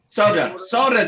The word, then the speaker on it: solder: Solder. Soda. There we are. Invisible L.